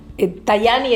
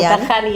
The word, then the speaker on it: Tajani: ¿Cómo se dice en Tajani? Tayani en italiano o Tajani, ¿alguien prefiere decirlo Tajani? ¿Quién lo dice Tayani? Vamos a decirle Tayani.